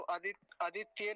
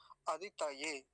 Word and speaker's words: अदितये: अदितये ये शब्द पीछे भी आया था, तो आदित्य नहीं बोलेंगे, आदित्य, यानी कई बार लोग तकार को आधा कर देते हैं तो वो गलत उच्चारण हो जाता है। सही उच्चारण क्या होगा? अदितये, अदितये।